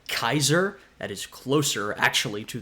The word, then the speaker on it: Caesar: we say in English Caesar. It's actually pronounced more like Kaiser.